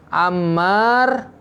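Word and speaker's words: عمّار: Kalau mimnya panjang, Ammar, hatta nggak ada rokatnya, kita membaca apa ini?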